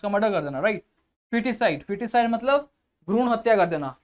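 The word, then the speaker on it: foetus: कर देना right foeticide foeticide मतलब भ्रूण हत्या कर देना ठीक है फिटस ए इसको पढ़ते है फिटस बट स्पेलिंग देख लो एफ ओ ई टी यू एस फिटस right homicide ठीक है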